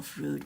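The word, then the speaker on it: Froud: It's either it's pronounced fraud or fude. But I mean, you you don't say clude, do you say cloud? It's spelled with O, so I would say fraud.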